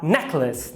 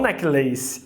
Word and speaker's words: necklace: E a segunda é átona. Se é átona, é um schwa, necklace, necklace. E não necklace, apesar de laço ser lace. E por que lace vira o schwa, necklace? Porque está em posição átona, ou seja, fraca.